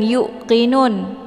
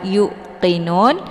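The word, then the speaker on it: يوقنون: Jadi bukan yukqinun. Meskipun huruf qf ini agak sedikit ditekan ke pangkal lidah, tapi bukan berarti wau ini juga harus ikut ditekan ya. Jadi kita bacanya seperti biasa y-nya dipanjangkan kemudian langsung diteruskan ke huruf qof tanpa ditekan yanya yuqinun. Jadi yang merasa ada kesalahan di sini cara membacanya adalah yuqinun.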